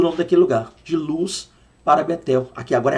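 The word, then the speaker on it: לוז: aí deixa me explicar Vou colocar aqui a palavra luz no hebraico tá aqui ó luz e pronuncia-se assim mesmo luz só que você percebeu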